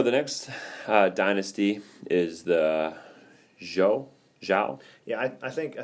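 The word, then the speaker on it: Zhou: write the first time I say Joe but that's because I'm sure I have a hard nan Eastern accent and I can't break you but yeah I would say it's like Jo Jo but it's spelled you know zi h o u and from 10:46 to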